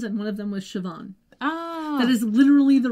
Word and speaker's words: Siobhan: let me quickly tell you about the actress Siobhan Flynn has 36 acting credits so far starting back in 1996 mostly TV shows that's it but can I just tell you that Siobhan I looked at that name SI o bh